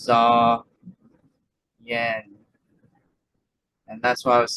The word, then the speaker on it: Zahyen: Lions of z y mind you that it rhymes with saen so if I said it differently than that just just try to when you read it or when you repeat it it's Zen and that's why I